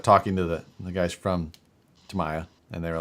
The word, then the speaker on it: Tamiya: between Tamiya and EVGA, they put up pretty much everything.